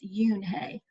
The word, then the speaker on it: Eun Hye: felt herself blush so even though her name doesn't look like it would be pronounced that way it's you Hey you nee stood in